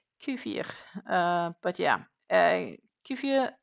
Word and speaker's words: kefir: Uh So, um apparently it's supposed to be pronounced kefir. Kefir.